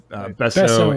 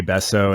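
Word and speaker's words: Besso0: we've got besso sorry is it besso o or besso Z or is it just besso B it's spelled besso with the zero at the end as well but uh yeah besso and glitch X City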